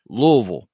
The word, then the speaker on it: Louisville: invention at the 1893 Southern Expos decision in Louisville it's pronounced day budded and it's Louisville question number